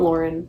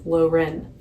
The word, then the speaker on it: Loren: It's not Lauren, it's Loren, which is kind of hard to say.